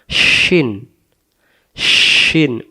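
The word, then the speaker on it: شين: উপরে তিনটি নুক্তা থাকলে তার নাম শিন শিন জিহ্বাটার মাঝখান থেকে ভেসে আসবে শিন শিন আর এটা সিন এটা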